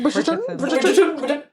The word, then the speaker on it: Bridgerton: Bridgerton.